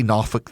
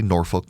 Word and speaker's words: Norfolk: got Portsouth, Chesapeake, NOFK, uh they say NOFFK there. They don't say Norfolk.